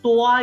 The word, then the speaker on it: toi: So TOA is the right pronunciation.